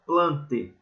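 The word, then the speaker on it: Plantae: das plantas o reino plante apesar de escrever planta a gente não no latim a gente não pronuncia o a quando ele tá juntinho do E então a gente chama de reino plante tá bom o reino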